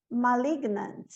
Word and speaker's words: malignant: Malignant. Malignant. Ok? Então, aqui eu não pronuncio o G, aqui eu pronuncio.